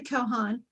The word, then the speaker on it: Kochan: Okay, well, I'm Kochan. The C is silent just to confuse people.